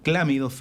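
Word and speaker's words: Chlamydia: en realidad en en latín la ch se pronuncia como entonces clamidia citas clamida Ahí está vendo y precisamente a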